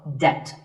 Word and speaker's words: debt: The B is silent in this word, so debt. If a debt is related to your house, it might be a mortgage.